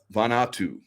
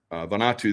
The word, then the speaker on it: Vanuatu: I believe it's pronounced Vanuatu. Vanuatu, there was a huge earthquake, or not earthquake, but a volcano that blew massive.